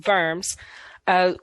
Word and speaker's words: Worms: know it looks like worms but it's german so the w is pronounced like a v it's in verms was attempted to resolve